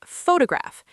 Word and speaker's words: photograph: The word photograph. Say it with me. Photograph. The stress is on the first syllable. Faux. Photograph.